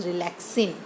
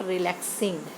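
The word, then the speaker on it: relaxin: इट इज़ रिलैक्सिन, नॉट रिलैक्सिंग। Spelling है रिलैक्सिन, XIN।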